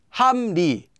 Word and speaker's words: 합리: 합리, 함리, 함리.